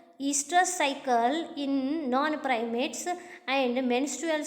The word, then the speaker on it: oestrous: Okay, first one, clearly we can understand here what is estrous cycle. OESTROUS, what they have mentioned here. O you should not pronounce here. It is called as estrous cycle.